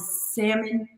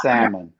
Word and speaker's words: salmon: pronounce the l and salmon they want to say salmon and i just want to let everybody know that l is silent not salmon ellen right right salmon